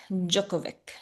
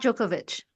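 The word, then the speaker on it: Djokovic: Novak Jookovic. Jookovic. I don't know how to pronounce it, but yes, him. It's Novak Jookovich. Jookovic. Oh, okay. So, the it's a sh at the end.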